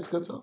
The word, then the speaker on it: Skitzo: That's how you say it, Skitzo.